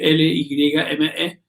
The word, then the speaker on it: Lyme: Esa ciudad, Lyme, se escribe L-Y-M-E, Lyme se pronuncia.